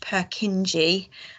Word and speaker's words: Purkinje: see that written as per kin it's normally pronounced purkinji and it's often written like that i think